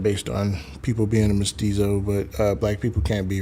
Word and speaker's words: mestizo: Mezito, or that's a race? Mestizo?